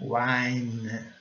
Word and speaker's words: wine: Wine. Wine. I com som de I. N com som de N. N. Wine. Wine. Vamos cortar aqui porque o E não é pronunciado.